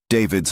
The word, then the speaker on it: D4VD: David's Hollywood Hills home raided by LAPD. But will it lead to an arrest? By now, you've heard the name D4VD, pronounced David.